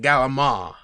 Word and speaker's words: calamari: other one is is calamari which you know if we're where I'm from if you don't pronounce it gala mom it's gala mom wait calamari is gala ma gala MA yeah yeah it's I don't